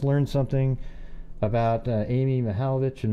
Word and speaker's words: Mihaljevic: uh amy mihalvich and maybe euger hal vic i think is how they say it actually oh don't get that wrong the hell of it the hell of it right like that yeah and uh you know